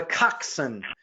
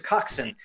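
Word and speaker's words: coxswain: about crew Mary Whipple is what's called a coxen it doesn't pronounce like it looks She's a coxen it translates literally to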